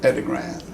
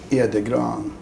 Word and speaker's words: Edegran: is Lars Edegran. That's not how you pronounce it in Sweden, but that's how we pronounce it. How do you pronounce it in Sweden? Edegran.